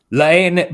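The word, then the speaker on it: La Haine: Lane, by the way, is spelled L-A-H-I or H-A-I-N-E. It's French.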